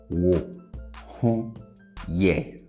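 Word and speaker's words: Wo ho yɛ: And pay attention to how I raise the last syllable, all right? So it's wo ho ye. Wo ho ye. Wo ho ye. Okay? And I'm raising the last syllable because generally that is how we ask questions in Twi.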